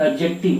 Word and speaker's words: adjective: यानी कि डी क्या होता है, जो डी लेटर है, ठीक है, ये जो डी लेटर क्या होता है, साइलेंट हो जाता है, प्रोनाउंसिएशन में एडजेक्टिव होता है, एडजेक्टिव।